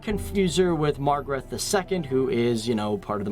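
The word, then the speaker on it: Margrethe I: probably mention Margaret I, or as the Danish pronounce it, Margaret I, who was the first female monarch for the country.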